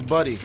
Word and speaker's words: Buddy: Do you understand me? I understand that. That's my whole thing. It's Buddy. Okay, you are saying my name wrong.